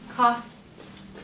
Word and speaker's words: costs: That one is a little bit tricky. Costs. Oh, But it's kind of like start. That T is actually a soft sound. So you're going to follow it with a S sound, the Costs. S.